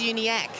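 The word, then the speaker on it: Davies-Uniacke: that tonight don't give us correct the correct pronunciation Luke Davies uni ACK there you go you were great tonight oh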